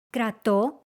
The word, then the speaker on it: κρατώ: These verbs are just as common, but their stress moves to the last syllable in the active voice and the second to last in the passive voice.